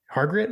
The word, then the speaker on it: Hargrett: right and John actually make sure that I'm pronouncing this correctly hargret Library am I saying that right yeah okay